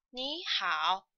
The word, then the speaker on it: 你好: So the third tone will be changed to second tone, will be 你. So this phrase actually should be pronounced as 你好.